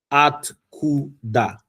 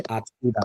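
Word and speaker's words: откуда: Atkuda. You observe it. It was three syllables. Yeah. Atkuda.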